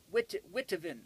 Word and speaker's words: Witteveen: Witteveen, I believe is the way the name is spelt, W-I-T-T-E-V-E-E-N, Witteveen.